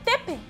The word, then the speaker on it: Depp: escribimos con doble Play usamos dos consonantes en alemán para indicar que la vocal se pronuncia cortico un alemán leería con